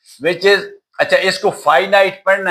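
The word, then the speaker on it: finite: अच्छा next type पे हम चलते हैं व्हिच इज अच्छा इसको फाइनाइट पढ़ना है। This this word is प्रोनाउ pronounce as फाइनाइट। फिनिट ना पढ़ना।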